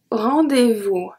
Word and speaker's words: rendez-vous: The S at vous is not pronounced.